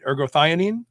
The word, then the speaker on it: ergothioneine: recently you published a study on something called ergo theanine am i pronouncing that right ergothioneine ergothionene yes ionine uh and this is an